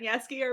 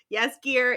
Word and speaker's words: Jaskier: To forewarn you, we think that that's how you pronounce their names, Geralt and Jaskier, but we very well could be wrong.